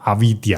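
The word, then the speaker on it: अविद्या: 无明啊，梵语念作 avidya，意思就是看不清。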